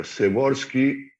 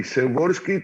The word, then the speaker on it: Przeworski: El nombre se escribe raro, Adam, pero Przeworski, que empieza con PRZ, Przeworski, polaco que estudió en